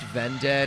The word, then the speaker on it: Vended: Yeah, it's pronounced Vended.